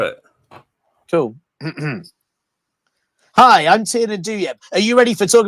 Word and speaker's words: Douieb: impressed it's like yeah I've always said do you and my cousin recently told me I've been saying it wrong my whole life so I've got no